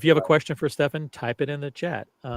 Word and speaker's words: Stefan: If you have questions for Stefan, by the way, you pronounce it Stefan or Stefan, by the way?